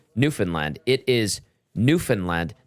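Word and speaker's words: Newfoundland: pronouncing newfinland it is newfinland not New Foundland emphasis is on the first syllable not middle syllable middle syllable fund like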